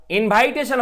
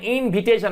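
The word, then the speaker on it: invitation: বন্ধুরা ইনভাইট মানে আমন্ত্রণ করা, আর ইনভাইটেশন হবে না, ইনভিটেশন আমরা উচ্চারণ, ইনভাইটেশন আর হবে না।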